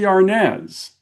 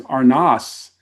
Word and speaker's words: Arnaz: By the way, I learned in the first chapter that it's not the real pronunciation of his last name is Arnaz. It's not Arnaz.